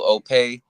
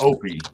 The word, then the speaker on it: Opey: guys I got the one and only Uncle opay also known as a Netflix actor go ahead and introduce yourself well it's actually pronounced Opie but it's all good brother I am your